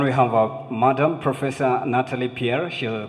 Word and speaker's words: Nathalie: go ahead thank you you pronounced my name correctly it's Natalie Natalie Natalie yes thank